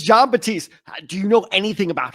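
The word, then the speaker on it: Batiste: because I want to make sure I was pronouncing his last name correctly but yes it is John batist do you know anything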